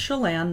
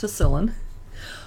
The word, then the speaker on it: Chelan: But it's spelled the original way they used to spell it, Tsillan. So it's pronounced Chelan, not Tsillan.